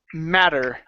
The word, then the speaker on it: matter: okay uh right here this word is pronounced matter okay give me a flap T here mad matter matter matter